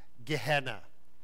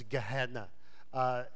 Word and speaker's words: Gehenna: biblically you may hear words stuff such like Ghana or Jena as some people pronounce it it's Gehenna that's a future punishment place